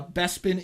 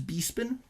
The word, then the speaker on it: Bespin: some of them uh bespin is bepin anded corusant is chorus can't was it George Lucas